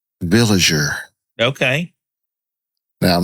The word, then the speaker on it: Villiger: So I looked it up Swiss pronunciation would be villager. Okay. Now that's good to know. I don't know if that's how it's pronounced but what I can find it's a soft villager.